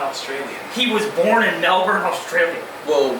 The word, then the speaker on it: Melbourne: He was born in Melbourne, Australia.